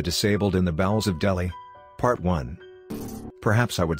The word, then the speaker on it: Delhi: certain glaring inconsistencies between Delhi pronounced Delhi by the way and the USA or